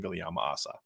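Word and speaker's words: Viliamu-Asa: So what's the latest you're hearing with Kingston Viliama-Asa? And I'm saying that now that way. I've been saying Ace in the past.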